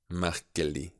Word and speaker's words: merkelig: If you have words ending in L-E-G, you will have a silent G. Vanlig. Merkelig. You hear the G is not so spoken.